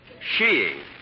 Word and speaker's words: skiing: little sheing little what sheing oh there are other pronunciations I suppose but in England and Norway sheing is considered most acceptable under the proper conditions